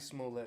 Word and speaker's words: Smollett: How do you properly pronounce his name? Jussie Smollett.